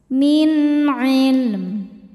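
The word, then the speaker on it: مِنْ عِلْمٍ: Karena nun sukun bertemu huruf halqi yaitu ain. Huruf tenggorokan halq itu ya. Maka cara bacanya nun sukun dibaca jelas min ilm.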